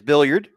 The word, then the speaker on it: Billiard: or billiard let's see can we get a confirmation on the pronunciation billiard or billyard billiard all right I can pull which yeah it could be bilard there my friend but it is billiard he must play some